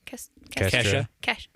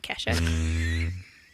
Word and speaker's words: Kestra: Kestra. It's not Kesha.